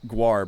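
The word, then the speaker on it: GWAR: kiss guar band okay so it is guar but it's spelled g-w-a-r here i'll show you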